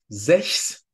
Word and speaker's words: sechs: If we have a combination of the consonants C, H, S within a word root, it's pronounced x, just like in the number 6.